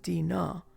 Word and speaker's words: Dina: when i distinctly heard my name pronounced a little wrong is dina pronounced dinah and the voice was saying dana dana get up you're going to be